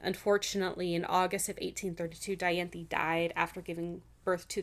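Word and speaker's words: Dianthe: that's how it's pronounced. It's d i a n t h e. So, I assume it's Diantha.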